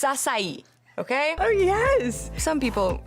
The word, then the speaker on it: açaí: It's açaí, not açaí, guys. Açaí. I'm gonna have an açaí bowl. It's açaí, okay?